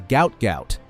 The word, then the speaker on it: Gout Gout: His name, pronounced to rhyme with pout, was misspelled during his family's transliteration from Arabic. The world still knows him as Gout Gout.